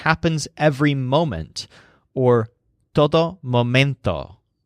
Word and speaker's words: momento: every moment or todo momento the word momento with a stress on mint like mint means moment and it's